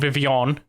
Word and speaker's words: Vivillon: Patrick was very adamant about it being called Vivian. That's how it's pronounced, but it's spelled Vivillon, and that's how I will.